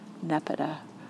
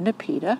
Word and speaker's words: Nepeta: Proven Winners cats pajamas Nepeta or nepita whichever way you want to pronounce it and they have